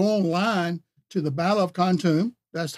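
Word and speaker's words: Kontum: But I also want you to go online to the Battle of Khantoum. That's how it's spelled, K-O-N-T-U-M.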